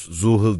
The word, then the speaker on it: Zuhal: Fransız aksan yol zuyal diye burun titreştirerek romantik kasırgı oluşturur. İngiliz telaffuz zuhul diyerek ikinci hecedeki he'yi abideleştirir.